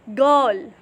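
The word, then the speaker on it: girl: गर्ल, गर्ल, गर्ल नहीं है, ये गर्ल है, गर्ल। इसमें आर का साउंड, आर जो है उसका साउंड नहीं है, ये आर साइलेंट है, तो ये है गर्ल, ठीक है।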